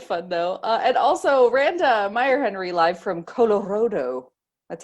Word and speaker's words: Meierhenry: And also Randa Meierhenry live from Colorado.